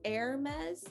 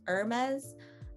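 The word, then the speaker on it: Hermès: people pronounce it as hermes and a lot of people pronounce it as irma's uh it's a french brand which means that of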